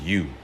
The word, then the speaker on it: ewe: it's spelled differently so e-w-e is pronounced u and you is a